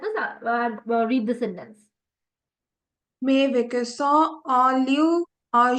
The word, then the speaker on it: vacances: Always remember when the letter C is followed by the alphabet A, it gives you the hard sound ka, like kado. Okay? Instead of the soft s sound.